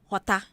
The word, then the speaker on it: jota: Okay, so J in Spanish is not called J. It's called H. Jota. It's called Jota.